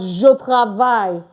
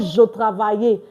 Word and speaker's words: je travaille: The same thing as je travaille. Je travaille. Not je travaille. J'habite. Like, please don't pronounce this E at the end.